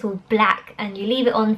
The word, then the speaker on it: Blaq: two products from a brand called black I think it's pronounced black is BL aq it was a facemask